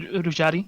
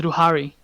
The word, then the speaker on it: Ruhari: You write it as Ruhari is how you pronounce the name. Yeah. The name says, I said Rujari or something, but it's Ruhari.